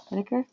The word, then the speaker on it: Schnedeker: And, I forgot to check your pronunciation of your last name. Is it Schnedeker? Schnedeker?